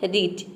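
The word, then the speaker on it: reach: हो जाएगा र ई ए का हो जाएगा ई सी एच का हो जाएगा च पूरा हो जाएगा रीच रीच का मतलब होता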